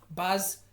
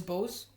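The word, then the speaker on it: Boaz: is BAS and yakan the B and Yin is how I thought they were pronounced but they're actually pronounced baz and yakan and I'll show you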